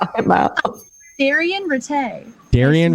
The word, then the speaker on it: Daryen: haven't start drinking yet um how do you pronounce your name about therian retay darian retay me and stephanie were talking about i